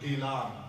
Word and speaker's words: Gilan: in the book, The city Abdul Qadir Jilani was born is Jilan. It's Jim. However, the local people they call it Gilan with Gaf G whatever is there.